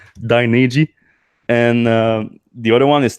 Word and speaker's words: Dynegy: I thought it was Dynergy, but that would have made more sense. Dynegy.